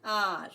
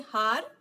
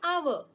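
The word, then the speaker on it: hour: the dog for and are why and again h is silent right we do not say har we say are or our isn't it so h is silent here so we use an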